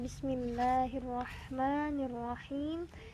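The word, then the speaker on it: بسم الله الرحمن الرحيم: Nah, bismillahirrahmanirrahim. Bismillahirrahmani. Tidak panjang sebetulnya. Mim di sini tidak panjang.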